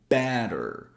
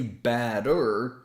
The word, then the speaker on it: batter: For example, notice we say batter. So the first syllable is emphasized. We don't say batter.